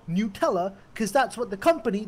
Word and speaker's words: Nutella: sucks you tell us FAQ does say it is pronounced a Nutella oh how about that